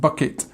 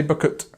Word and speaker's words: bucket: uh sound so uh the up sound and bucket and again although it's a a two- syllable word we don't say bucket we say bucket so you say the uh and the I this word so kick the bucket